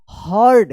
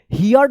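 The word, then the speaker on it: heard: river and the market in the evening Raju हर्ड एच ई ए आर डी हर्ड पढ़ते हैं इसको हियर्ड मत पढ़िएगा अ soft S ओ एफ टी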